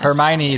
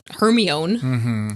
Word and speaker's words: Hermione: Hermione, the very smart lady of the group.